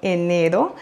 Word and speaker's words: enero: Et le R en enero, c'est un R simple, donc pas fort, car il est au milieu du mot. Enero. Et pour perfectionner votre prononciation, n'oubliez pas d'accentuer sur le deuxième E, enero.